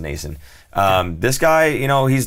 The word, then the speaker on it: Noesen: It looks like Noesen, but it's actually pronounced Noesen.